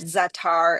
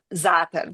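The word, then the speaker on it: za'atar: zata zata spice uh that isn't zatar and I know that I know that that is very widely used the zatar um pronunciation um but but that one is zap but the emphasis being on the the first syllable but okay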